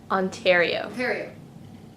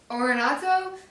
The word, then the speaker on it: Ontario: all right thank you and coming in you pronounced ontario wrong okay let's do it again yeah ontario ontario ontario saint catherine's ontario okay 15 was